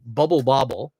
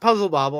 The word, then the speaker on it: Bubble Bobble: game that's similar to Bubble Bobble. See, I said it right this time, not Puzzle Bobble.